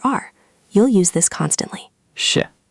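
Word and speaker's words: 是: Sh. The whole thing drops down. Beautiful. Now say it with me twice. Sh. Sh. Perfect pronunciation that time. Notice you're not dragging it out. It's quick and decisive.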